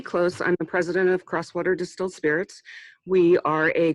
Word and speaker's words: Crosswater: She is the owner of Close Distillery, Close Waters Distilled Spirits. Is that correct? It's actually Crosswater Distilled Spirits. Crosswater, sorry. Yep, that's okay. I can never remember how it's pronounced.